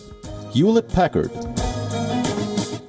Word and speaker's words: Hewlett-Packard: like Picard hamlet hewlett-packard the correct pronunciation is you will it Packard bi do bi do